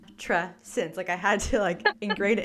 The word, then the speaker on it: Matrescence: It's Matrescence, right?